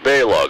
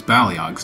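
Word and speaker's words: Baleog: Eric, Balog, Olaf, come in. Must have gotten lost again. Although he mispronounces Balyog's name, as well as its sequel, The Lost Vikings 2, Norse by Norse-West.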